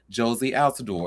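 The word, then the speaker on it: Jozy Altidore: And you see where it says tennis star Sloan Stevens announces split from husband Josie Alador. And if I'm saying his name wrong, I I do apologize.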